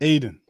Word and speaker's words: Ayton: uh help from d.c just put a d right there like stop trying to sound that y out and all the way and aidan ay deandre all right